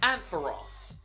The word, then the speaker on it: Ampharos: But think of the character from Friends, Ross. That's what you need to think of when to pronounce this name, Ampharos.